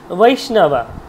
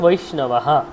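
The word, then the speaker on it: বৈষ্ণবঃ: দুটোই উচ্চারণ সমানভাবে হবে, বৈষ্ণব, বৈষ্ণব, অনেকে এইভাবে বলে, কিন্তু এইভাবে সঠিক নয়, হচ্ছে বৈষ্ণবাহা, তাহলে বৈষ্ণবাহা, নয়ের সাথে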